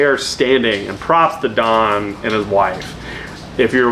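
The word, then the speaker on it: Daan: video they he's European his name is Don d a a n we we spell it d o n but but Don I will say if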